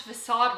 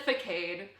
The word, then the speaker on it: facade: love that video but I pronounced facade wrong that's the one thing I would change and like I can't just cut out that sentence I said for Cade I was a baby